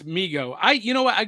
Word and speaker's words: Mego: Who you gonna call cartoon commotion says dude Meo Ghostbusters yes and it's Migo I you know what I grew up pronouncing it Meo and I only learned like